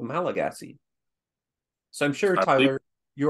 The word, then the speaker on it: Malagasy: Now, I'd like to take a small digression to tell you about a language called Malagasy. So I'm sure, Tyler, you are... Pronounced Malgash.